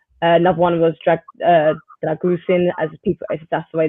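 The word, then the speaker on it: Drăgușin: good um yesterday another one was dra uh dragusin as people that's the way that you pronounce it I think he's a really good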